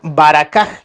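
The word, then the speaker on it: ברכה: Esta palabra tiene también su origen en el lenguaje antiguo que es el hebreo, se pronuncia baracaj, que también significa bendición.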